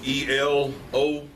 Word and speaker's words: Elohim: And as stated, this week we're going to look at Elohim, and that's spelled E-L-O-H-I-M.